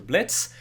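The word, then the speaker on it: Blitzø: He was in a failed robbery that sent him to prison, where he met one of the main character, Blitz, and the O is silent, and that's how they became part of this company that just kills people.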